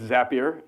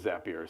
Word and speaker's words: Zapier: or is a peer yeah so so it's zapier zapper makes you happier is tagline to remember I found out this morning from Adam from frame dot IO that that British pronunciation is zapier so there you go we just did it